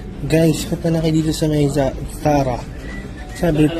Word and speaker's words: Zara: kay dito sa may Tara sabi Tara daw ang pamang pronunciation hindi Zara sabi sa YouTube Tara sapatos para sabi sa